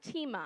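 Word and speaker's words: τιμή: And the other word, it looks like time, but it's actually pronounced tima, and it means with honor, and it's to value, respect, highly esteem, treat as precious, weighty, or valuable.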